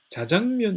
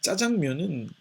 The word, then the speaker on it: 짜장면: 장면 이라고 하는 것은 자장면 이라고 발음하는 것보다 짜장면 이라고 발음을 해야 왠지 좀 더 춘장 에 맛이 느껴지는 것 같습니다 제가 어린 시절에 이 짜장면은 졸업식 날에 먹는 음식이었습니다